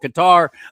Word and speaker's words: Qatar: They decided they wanted to be called Qatar. I don't care. I'm still calling you cutter.